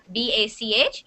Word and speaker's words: Bach: So Dinsel, it's not Bach, you're right about that. It's Bach. B-A-C-H is pronounced Bach.